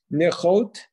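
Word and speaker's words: נכאת: Nichot is how to pronounce it.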